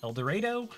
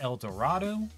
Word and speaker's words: El Dorado: And it is pronounced El Dorado, not El Dorado.